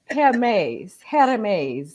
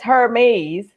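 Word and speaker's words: Hermès: Like, well, it says Hermes. And I was Right. like, no, it's not here. I said the H is silent.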